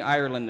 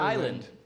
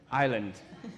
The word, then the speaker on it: Ireland: Ireland is stiv yeah you want to say our island that's the correct way to do it I'm wrong I'm wrong yep do it again Island Island now I have an